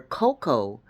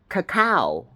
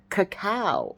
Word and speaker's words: cacao: Rooted in ancient traditions where cocoa was I'm not saying it right. Cacao. That There you go. Cacao.